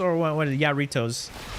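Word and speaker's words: Jarritos: is this is this Mexican or is it Haritos or what? What? Yaritoss. How do you pronounce it? Haritos or Yaritoss? Is it with a h? Oh, it's pronounced Harito. Okay, there we go. I see it. Haritos.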